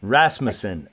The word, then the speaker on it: Rasmussen: Rasmussen.